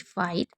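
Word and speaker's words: fight: एक नोट करने वाली बात है कि जिन शब्दों के अंत में जीएसटी होता है उसमें जीएच को साइलेंट रखा जाता है, जैसे नाइट, फाइट, माइट, बहुत सारे हैं।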